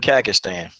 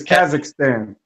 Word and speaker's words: Kazakhstan: up some names man no okay so is a cast and it's Kazakhstan okay cash that Stan okay yeah okay and